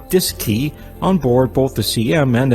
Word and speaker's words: DSKY: digital display and keypad known as the dsky pronounced disk key on board both the cm and lm mission